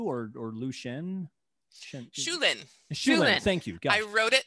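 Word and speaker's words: Shu Lien: Michelle Yeoh, who plays Shen Liu or Lu Shen. Shulin. Thank you. I wrote it phonetically. Thank you so much. Michelle Yeoh, who plays Shulin, who is the romantic interest to Li Mu-bai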